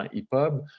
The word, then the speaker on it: EPUB: Donc, le format EPUB, c'est ça qu'il faut que je dise EPUB, hein, Myriam, je le prononce mal sinon.